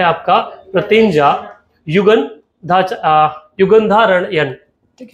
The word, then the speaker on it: प्रतिज्ञा: वो एक्चुअली अलग अलग प्रोनाउंसिएशन उनका लिटरेचर में होता है। ऐसा है, उसको प्रतिज्ञा ही बोले।